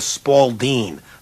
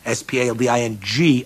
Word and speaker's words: Spalding: With a Spalding. Not a Spalding, S-P-A-L-D-I-N-G, a Spalding. That's how you say it.